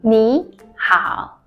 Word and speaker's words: 你好: When third tone plus the third tone will change to second tone plus the third tone. What does that mean? For example, 你 plus 好 but When you pronounce this one, you should follow with 你好. 你好吗? How are you? Instead of 你好.